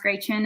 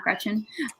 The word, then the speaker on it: Gretchen: That's why my name is pronounced Gretchen and not Gretchen. It's a German pronunciation.